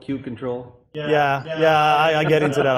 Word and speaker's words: kubectl: Probably the most important question, is it kubectl, kubectl, kubecontrol?